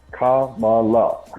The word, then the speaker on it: Kamala: is a racist joke her name is three Sy three syllables Kamala comma like in you know grammar and